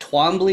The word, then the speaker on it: Twombly: I'm joined today with Jonathan, and is it Twombly? Is that how you pronounce it? Twombly.